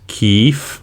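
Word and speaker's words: Kyiv: no longer kiev but the ukrainian version which is keef if i'm not mistaken so i'll just be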